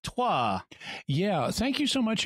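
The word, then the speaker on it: Troyes: we might say that Troy is which is pronounced tois yeah thank you so much Aaron it's good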